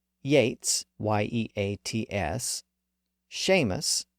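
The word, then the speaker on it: Yeats: s h EA Batty B A TT y Yates ye a TS Sheamus s a m s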